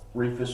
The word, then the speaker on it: Rehfuss: with that I have if people remember it's long e and just forget about that age because it's silent we should still get